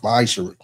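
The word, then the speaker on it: מעשר: Means 10th in Hebrew and is pronounced ma'asher.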